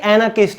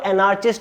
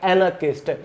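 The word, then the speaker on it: anarchist: Friends ये एनार्किस्ट है, जो आप ये आर देख रहे हैं ये हमेशा साइलेंट रहता है। काफी सारे लोग इसको एनार्चिस्ट बोलते हैं, जो कि गलत है। इसकी सही प्रोनाउंसिएशन है एनार्किस्ट।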